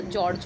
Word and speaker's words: जॉर्ज: ठीक है, क्योंकि आगत है इसलिए प्रोनाउंसिएशन जो है कि हमारा सही होना चाहिए, जो जॉर्ज होगा। ठीक है, आ और ओ के बीच की ध्वनि होती है, जो जा पे चंद्र बिंदु के जैसे लगता है बिना बिंदी के।